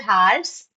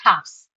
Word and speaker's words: halves: don't have to tell halves, it's halves. Got it? Okay, so wolf becomes wolves, shelf becomes shelves, leaf, leaves, loaf, loaves, knife, knives, wife, wives, life, lives, half, halves. So that L is silent.